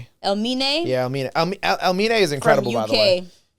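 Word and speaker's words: Elmiene: We got how you pronounce his name? Elimine. Elmine.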